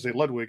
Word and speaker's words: Ludwig: So I didn't know if people knew that, but yeah, it's Ludwig, and I guess Ludwig is the correct pronunciation.